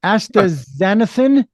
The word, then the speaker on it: astaxanthin: um as Okay, I'm going to have you pronounce that cuz I know I'm going to mess that one up thoroughly. Um uh astaxanthin Yes, you got it perfectly.